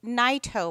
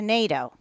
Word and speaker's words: Naito: she will tell you Nito Parkway. Which one is correct? Bill was born William Sumio Naidito, but he changed the pronunciation in the 1950s to NATO.